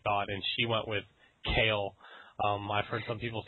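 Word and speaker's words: Kayle: see what she thought and she went with kale um I've heard some people say Kaley but I'm gonna go with kale and that was a ramble that nobody needed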